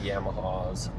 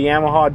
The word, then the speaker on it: Yamaha: I don't know if we say Yamaha different or if everyone else just says Yamaha wrong, but they pronounce the A as a O like Yamaha. Yamaha.